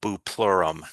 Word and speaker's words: bupleurum: There is also a substance called bupleurum. It's spelled Buplurum, bupleurum.